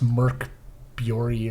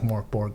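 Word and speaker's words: Mörk Borg: I think it's Swedish. It's Merk Bjori or something like that is the correct pronunciation. But looks like Mork Borg to me because I'm American and I don't know how to pronounce things.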